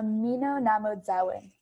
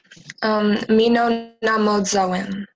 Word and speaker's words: Mino-Mnaamodzawin: Mino-Mnaamodzawin.